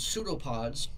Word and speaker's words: pseudopod: the four see the first one are called pseudo pods it's pronounced pseudo pod pseudo means false pod pod